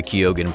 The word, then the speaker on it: Keoghan: Finally, I liked the concept of Barry Keoghan playing the Joker, and as a side note, you do pronounce Barry's last name with the G sound.